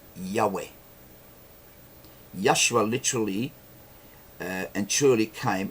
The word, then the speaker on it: Yahweh: They are pronounced Yod-He Vav-He. Yahweh.